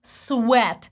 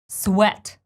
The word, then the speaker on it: sweat: the least the word sweat which is spelled very similar to sweet but the sound is different and I'm sure you're familiar with this word sound Sam is and friend sweat sweat this word could